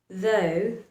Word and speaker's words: though: there's a vowel sound, then both these letters need to remain silent. For example, in words like daughter, daughter, though, are high, high, these two letters, G and H, remains silent.